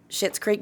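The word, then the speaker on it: Schitt's Creek: Thirsty mule Distillery and shit's creek but it's spelled s CI TTS okay um I know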